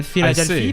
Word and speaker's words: Philadelphie: En France, a word that ends with IA becomes IE. So Philadelphie, Pennsylvanie.